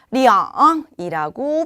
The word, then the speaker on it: 两: 숫자 2는 R이라고 읽죠. 자, 그런데 R이라고 표현하는 이 숫자 2가요. 시간, 수량, 금액 등을 표현할 때는 리앙이라고 표현이 된다고 합니다.